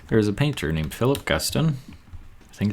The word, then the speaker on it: Philip Guston: There's a painter named Philip Guston. think it's how it's pronounced.